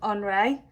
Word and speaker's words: Henri: So even though his name is spelt like Henry, because he is French, we call him Henri.